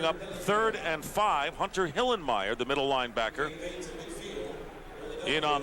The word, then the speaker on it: Hillenmeyer: I love that guy you got to say hillenmeyer not hillermeyer you can't be lazy in the pronunciation Goose it's my kind